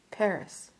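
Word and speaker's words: Phagri: my birthplace was called Paris which Paris south of Lassa there's a village called fagri p a g r i the name being pronounced Pari I explained that my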